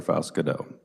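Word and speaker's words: Faust-Goudeau: thank you further questions senator from Cedric Senator Faust Godot Mr chairman thank you so much and I appreciate the way you pronounce my name it's perfect I have a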